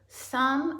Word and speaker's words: thumb: has the silent K thumb and comb have the silent B guide has a silent